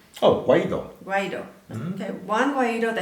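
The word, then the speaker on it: Guaidó: Oh, Guaido.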